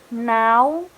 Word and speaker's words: now: It is now, not no. If you pronounce it no, it will be different meaning.